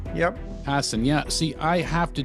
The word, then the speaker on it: Hassan: We have Stephen Hassan, and I pronounced that correctly, right? Hassan. Yep. Hassan, yeah.